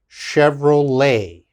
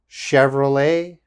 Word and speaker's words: Chevrolet: and of course everyone knows this car company chevrolet chevrolet okay again chevrolet and the last one very difficult to pronounce uh this is a buffet buffet and